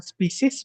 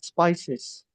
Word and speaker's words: spices: in India she is often prepared with species and boiled with and boiled in ini bacanya spices ya not species but spices spices oke he spices